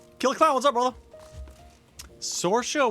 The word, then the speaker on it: Saoirse: Sorsha was a name that we were throwing around as possibly being a name for Zoe. Saoirse. Saoirse. Yeah, Saoirse. which is like spelled Like different. an It's Irish, yeah, yeah. it's an Irish name.